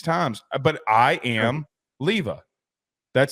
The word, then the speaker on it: Iamaleava: We've had disagreements, not just about Jaden Rashada, but also Nico Iamaleava. Okay, got it right that time. Did you? But yeah, I mean, I've listened to him 6 times, but I am Leava.